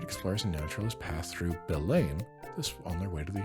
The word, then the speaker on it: Belém: Belém. Belém. Not Bellum. Belém. Belém.